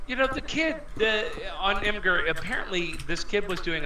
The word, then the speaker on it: Imgur: But you know, I heard that story and I saw it on Imgur or Imager or IMGUR. You know, yeah, I think it's pronounced Imager.